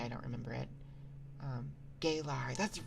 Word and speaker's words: Galar: the regional variance right I don't know why I thought gaylar rather than galar gayarian look it's you are you telling me it's Not better.